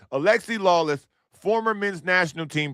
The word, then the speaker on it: Alexi: Because Lexi Lawless, buddy, listen, Lexi Lawless sounds like a loser. Not like Alexi. I want to pronounce his name properly. Alexi Lawless, former men's national